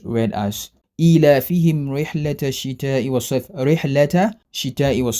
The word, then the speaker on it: الشتاء: Since it's a hurufu shamsiya, the best way to recite it properly is to join the ta and shin together, else I will be omitting the shadda on the letter shin. Hence the correct pronunciation is ila fihim rihlata shita'i was sayf.